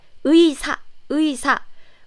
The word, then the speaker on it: 의: First, if this 의 with this 이응 comes at the beginning of the syllable, as used as a first syllable of the word, then this 의 is clearly pronounced like 의사.